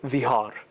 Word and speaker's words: Dhihar: It was called dhihar. What was it called? Dhihar, with a dha. Okay, it's like D-T-H-I-H-A-R if you want to spell it in English, I think.